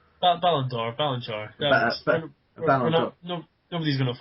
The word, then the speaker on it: Ballon d'Or: He's won Ballon d'Or... wait, before I go any further, am I saying it right? Ballon d'Or? Ballon d'Or.